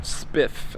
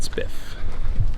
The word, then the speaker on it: Spiff: o e k i think is how you spell it uh called spiff s p i f f and it's a